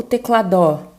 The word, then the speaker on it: teclado: sílaba mais forte tá agora você fala tec lado teclado o teclado você fala teclado né então a penúltima sílaba é a sílaba mais forte então a gente tem